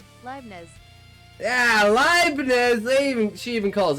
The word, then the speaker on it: Leibniz: At least I'm not calling it Lebanese. Is it Lebanese? Is it supposed to be Lebanese? I'm like, there's a letter missing there, right? Let's see how. Leibniz.